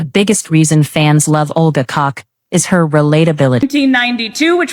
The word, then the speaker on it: Koch: It's meant to be pronounced Koch, but if you're living in an English-speaking country, 8 out of 10 times it is Olga Koch.